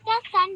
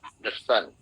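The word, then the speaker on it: the: हां अब यहां पे दी नहीं बोलना है यहां पे द बोलना है क्योंकि कोसोनेंट साउंड है। वोवेल नहीं है। ठीक है? द सन ओके द सन दी सन नहीं।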